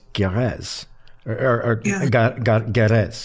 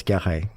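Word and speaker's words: Guerraz: I'm from California so when I first saw that I thought it was gz gz you know like a Spanish California name right but he was from French Switzerland and it's gah okay I never would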